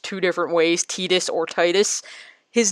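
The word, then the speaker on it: Tidus: different ways t-this or Titus his name is actually pronounced Titus that's how it's pronounced because of tidal wave that's what he's that is what he's named after it's not tedious it's Titus and those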